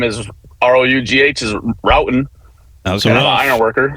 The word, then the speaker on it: Roughton: How do you say it? Larry? Roughton. Yeah, no, it's Roughton. You got it right, then wrong, then right.